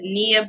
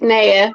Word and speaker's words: Neea: We have Neea Baptiste. Did I pronounce that right? It's Neea, but that's fine.